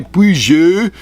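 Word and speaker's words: Peugeot: estado quase não existe puji é é a pronúncia francesa gil e nem se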